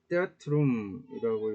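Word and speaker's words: theatrum: 그래서 이게 있으면은 테아트룸이라고 읽어주면 될 거예요. 그냥 여기에서는 이제 띵이나 더에서처럼 th처럼 발음되지 않는다라고 이야기를 하고 있는데 그렇게 발음하시는 분들도 많이 본 것 같아요.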